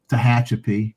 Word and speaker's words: Tehachapi: And thankfully, he spelled it out how to say it so I wouldn't screw up Tehachapi, because otherwise I probably would have.